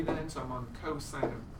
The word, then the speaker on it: cosine: So cosine, abbreviated COS, still pronounce it as cosine, is the ratio adjacent over hypotenuse.